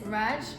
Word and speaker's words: Radw: dimensions to your face my name is raj but it's spelled radw and that's because in ghana we don't have jay in the alphabet so the local language